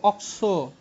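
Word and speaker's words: oxo: CO কে আমরা উচ্চারণ করব অক্সো।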